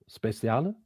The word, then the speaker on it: Speciale: I think it's Italian. Speciale.